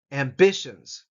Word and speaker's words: ambitions: the first syllable preferences Ambitions second syllable emphasis Ambitions experiences experiences I hope